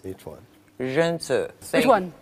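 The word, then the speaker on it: 仁: Zhenzi. Which one? Zhenzi.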